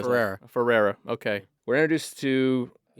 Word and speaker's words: Ferrer: Miguel Ferrer.